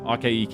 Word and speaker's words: Akaike: to make sure we get them right and akaike is not a very common name where i'm